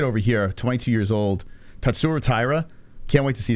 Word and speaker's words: Tatsuro: Tatsuro, not Tatsuro. Tatsuro Taira. It's not Ru, it's Ro.